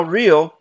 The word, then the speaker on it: real: And now real has two syllables. Doesn't sound like it has two syllables. Meal, zeal, seal, real. It doesn't sound like real.